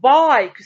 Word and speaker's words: bike: is a bike excellent bike i long i and in order to give the vowel i the long sound what should we add at the end we should add the silent e excellent so here the